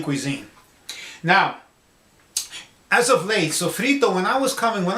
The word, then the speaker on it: sofrito: i'm talking about is sofrito phonetically worded the way spell s-o-f-r-i-t-o sofrito now sofrito is an